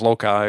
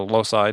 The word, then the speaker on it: loci: And, you talk about this concept, the method of loci or loci, depending on how you pronounce it.